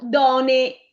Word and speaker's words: done: Done, non donne. Donne in italiano.